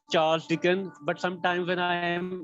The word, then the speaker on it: Charles Dickens: Well, the correct pronunciation is Charles Dickens, but sometimes when I am a bit excited, I mispronounce it.